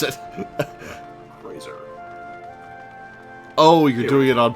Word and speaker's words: Crozier: Minda, I just said how to pronounce it. Crozier.